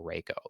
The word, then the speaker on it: Rhaco: That's why I do say, like, when people rate in or whatever, it's like, either pronunciation is fine for Racco or Reiko.